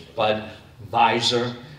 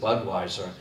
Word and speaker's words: Budweiser: And think for a minute, Miller, Pabst, Budweiser, and by the way, the proper pronunciation is Budweiser, W's or V's, so we've anglicized it, Budweiser.